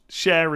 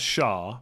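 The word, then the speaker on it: Schär: is Cher the singer isn't that how Fabian Cher is pronounced like it it's spelled or at least it looks to an ignorant English person like me as Shah but I think it's pronounced Cher right but I won't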